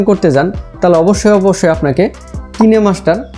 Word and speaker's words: KineMaster: আপনি যদি কাইনমাস্টার বলেন তাও ঠিক আছে, আর যদি কোরিয়ান ভাষায় আপনি উচ্চারণ করতে চান অরিজিনাল ল্যাঙ্গুয়েজে, সেই ক্ষেত্রে হবে কিনেমাস্টার।